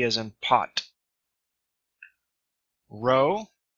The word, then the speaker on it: rho: Rho, sounds like R as in run.